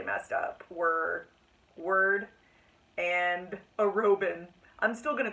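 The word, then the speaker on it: Arobynn: Well, I've been spending 2 books pronouncing it Arabin, and apparently it's Arobin.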